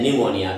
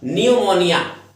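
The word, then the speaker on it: pneumonia: पूछा जाता है, न्यूमोनिया, क्योंकि इसके अंदर स्पेलिंग जो है पी से शुरू होती है, जैसे हमारे साइकोलॉजी वर्ड होती है, तो ऐसे ही कुछ वर्ड्स होते हैं जो स्पेलिंग, जैसे नॉलेज है, हालांकि के से शुरू होता है लेकिन के साइलेंट होता है, इसी प्रकार से इसके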